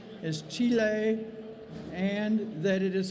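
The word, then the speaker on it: chile: passed a resolution that says that the correct pronunciation is T Leigh and that it is spelled CH I le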